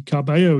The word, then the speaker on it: Carballo: that is at dm cabello and uh the cabello in there is the spanish way of pronouncing it because i am barely